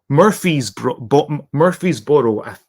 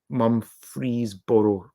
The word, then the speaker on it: Murfreesboro: Anthony, Murphy's-Boro. I completely butchered that. Okay, so it's 3 hours. Okay, so it's not that close. Or Memphis is 3 hours from Murfreesboro, rather.